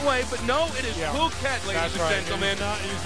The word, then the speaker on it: Phuket: h u k t many people think it's pronounced in a different way but no it is puket ladies and gentlemen he's not he's not the